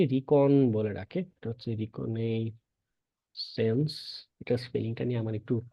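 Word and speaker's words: reconnaissance: সংক্ষেপে দেখবেন অনেকে রিকন বলে ডাকে এটা হচ্ছে রিকনে সেন্স এটার স্পেলিংটা নিয়ে আমার একটু কষ্ট হয় ব্রিটিশদের মত উচ্চারণ করতে পারি এটা রিকনেসেন্স বলে ডাকে এর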